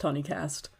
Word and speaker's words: Hoonicast: pronounced Honeycast.